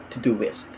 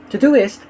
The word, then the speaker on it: Todoist: our list we have to do list or at least that's how I think it's pronounced it's spelled t-o-d-o-i-s-t and when you want